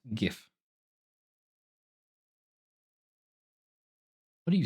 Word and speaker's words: GIF: of hoer and the government made what it's pronounced GIF what are you saying G don't worry about